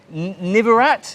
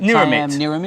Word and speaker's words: Niramit: One is Siam Nivarat, is that how you say it? Niramit, right? Niramit. Thank you.